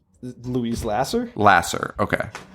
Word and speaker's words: Lasser: how do you say her name Louise Lasser Lasser okay Lasser she was married to uh Woody Allen for